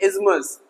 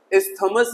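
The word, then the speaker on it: isthmus: उस तरीके से इज्मस, इस्थमस नहीं, इज्मस। जल मध्य डमरू।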